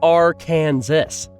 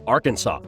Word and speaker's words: Arkansas: search and rescue effort number 19 comes from R Kansas better known as Arkansas hopefully you're not watching this video in Arkansas